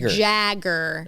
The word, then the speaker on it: Jagger: Not Jager like Jager bombs. Jagger.